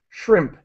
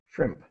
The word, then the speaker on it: shrimp: And somebody has, Diego has asked me about the pronunciation of shrimp with the S-H-R, shrimp, shrimp. All right, so great.